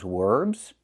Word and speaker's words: verbs: Most of those verbs? verbs I think she means verbs. We cannot use the w w sound. We have to contact our bottom lip with our top teeth.